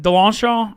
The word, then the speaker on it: DeLongchamps: I always DeLongchamp. How do you say it? DeLongchamp. There's a little bit of NOLA there in my back pocket.